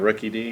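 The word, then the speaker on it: Rookidee: right, so now we're going to have him try and pronounce Pokemon All right, names. so I got Rookie D.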